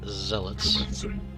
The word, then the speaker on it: Zealots: The Zealots, and it is pronounced Zealots, are our fodder.